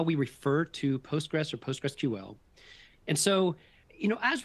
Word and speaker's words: PostgreSQL: so the first is there are two connect correct pronunciations uh for referring to postgress one is postgressql so kind of the SQL just rolls off the end of the word so it's not postgress SQL it's postgressql or postgress what is generally